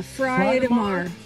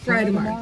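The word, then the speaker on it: Friðheimar: Yeah, Friedemar. Friedemar.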